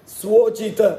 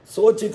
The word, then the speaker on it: ಸ್ವೋಚಿತ: ಸ್ವೋಚಿತ ಸ್ವ ಉಚಿತ ಸ್ವೋಚಿತ ಅದು ಸೋಚಿತ ಸೋಚಿತ ಅಂತ ಕೆಲವರು ಉಚ್ಚಾರಣೆ ಮಾಡಿಬಿಡುತ್ತಾರೆ ಸೋಚಿತ ಅಲ್ಲ ಅದು ನಾವು ಶೋಚಿತವಾಗಿದೆ ಈಗ ಶೋಚಿತ ಅಂದ್ರೆ ತುಂಬಾ ಆತಂಕ ಪಡಬೇಕಾದದ್ದು ಅಂತ ನಮ್ಮ ಕೈಯಲ್ಲಿ ಸಿಕ್ಕಿದ್ದು ಶೋಚಿತವಾಗಿದೆ ಅದಲ್ಲ ಸ್ವೋಚಿತ ಅದು ಸ್ವೋಚಿತ ಸ್ವೋಚಿತ ಕರ್ಮಗಳ ಆಚರಿಸುತ್ತಾರೆ ಅಂತ ದಾಸರಾದ